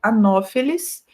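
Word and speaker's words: Anopheles: latim super permaneceu Então sempre que vocês virem PH no meio de uma palavra vocês vão pronunciar como f tá então o mosquito anófeles se pronuncia como se fosse f e não anófeles tá eh outra regra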